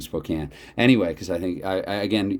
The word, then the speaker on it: Spokane: Canada born and raised, I double checked to see that it was Spokane and not Spokane, at least according to what I Googled. So that's why I'm saying Spokane.